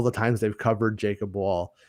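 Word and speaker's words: Wohl: the al all the times they've covered jacob wall w w o hl i believe is how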